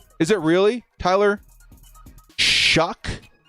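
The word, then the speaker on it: Shough: It's pronounced Shuck. Really? No, it's not. Is it really? Tyler Shuck?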